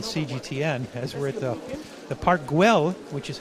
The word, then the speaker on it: Park Güell: This is the way we pronounce it in both Spanish and Catalan, Park Güell. We spell it G-U-E-L-L, Park Güell. It's called like that because... There's a little bit of the L, almost just a bit of the L.